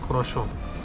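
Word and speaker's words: croissant: क्रस ऐसा का मतलब लिखा हुआ जाता है लेकिन प्रोनाउंस करते हैं कशो और ये बहुत ही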